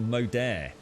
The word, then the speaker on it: Moder: has it wrong oh it's pronounced modaire modere modere i found a site with the pronunciation danish made a group oh